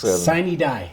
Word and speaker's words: sine die: Sine die. Sine die is how they say it, right? That is.